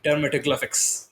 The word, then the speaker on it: dermatoglyphics: Tell us more about what all you can identify from the dermatoglyphics, if I pronounce that correct this time.